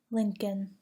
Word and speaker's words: Lincoln: Do not pronounce the L in the following words: calm, chalk, could, folk, half, Lincoln, palm, salmon, should, talk, walk, would.